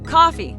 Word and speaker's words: Coffey: He says it's coffee, like the drink. Your servos like to drink only not spelled the same.